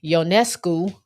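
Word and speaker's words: Ionescu: the field and then we had uh Sabrina yonescu I learned how to say her name correctly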